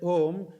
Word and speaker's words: Om: But you write it as Om because has a little more all embraasive meaning because there are three important syllables. A U M A U M O A is the beginning of the sound.